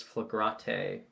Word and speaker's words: Flagrante: I think yeah because we've settled on the pronunciation of it as flagrante because at the beginning it does not go well flag rate flagrante 17.